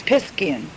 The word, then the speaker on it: Piscean: Now, that's the old way, and the proper way to say Piscean. It's Piscean. The phonetic spelling would be P-I-S-K-E, with the emphasis on the K-E, A-N.